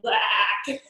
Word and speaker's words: Blaaack: staff this now, that it is not Ardbeg Blaaack, because there are 3 A's, it's actually Ardbeg Blaaack. The wonderful tones of Scotch Gaelic has come over. And so Ardbeg Blaaack, No. pronounced correctly, is Ardbeg Blaaack.